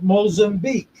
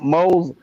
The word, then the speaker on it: Mozambique: shrimp Mozambique. Shrimp moles? Shrimp moles? Say it slow. Man, get that fucking cock out of your mouth. Shrimp Mozambique. Shrimp moles and beak? Yeah, there you go.